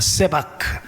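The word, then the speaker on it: סְבַךְ: 근데 원래 여러분 오늘 본문의 말씀에 나오는이 수풀이라는 말은 히브리어 발음이 세바크라고 이야기합니다. 세바크.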